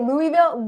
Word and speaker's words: Louisville: Louisville, Louis, the S is silent.